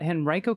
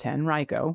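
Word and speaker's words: Henrico: Just wanted to say that Henri Reicho County is pronounced 10 Reicho which we learned yesterday as well.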